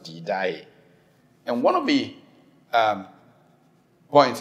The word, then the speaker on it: Didache: Spelled Didache, but it's pronounced Didache.